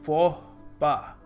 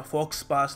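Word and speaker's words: faux pas: करना चाहिए देखो इसको प्रोनाउंस करने का सही तरीका है फ पा जी हां पास या फॉक्स पास नहीं है जानता हूं आप से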